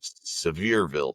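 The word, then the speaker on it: Sevierville: in uh Tennessee near Seaverville, I believe, or Sever. It's not pronouncedville. It's like Severeville.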